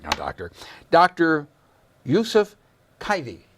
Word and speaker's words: Kaifi: sitting here on my left I hope I pronounced your your name right now doctor dr. Yusef kitey kitey right right is that close enough no it's